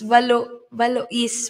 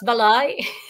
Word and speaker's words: Valois: It's Valois po. Valois. Yeah. Ah, talaga Valois? Yes. Ah, dito kasi pag ganyan may S, Baloy. Yeah. hindi na na-pronounce yung S.